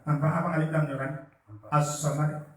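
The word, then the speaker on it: الصمد: As-samad, bukan somad teman begitu, tapi as-samad. Tapi ketika hukum membacanya kan Allahus somad. Itu kan alif lam syamsiyah ya. Alif lam syamsiyah tidak dibaca ya.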